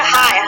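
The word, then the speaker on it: high: GH है ना, तो GH को क्या है साइलेंट है, तो इसको हम क्या बोलेंगे हाई, हाई मीन्स ऊंचा।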